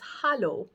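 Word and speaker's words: Hallo: sweet little greeting that sounds almost exactly the same and that's Hollow so just the difference in pronunciation it's just spelled with an a I'm going to put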